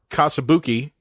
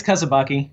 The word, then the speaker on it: Kasabaki: We're joined with special effects makeup artist and graphic artist, Kasabuki. Am I pronouncing it right? It's Kasabaki. Kasabuki.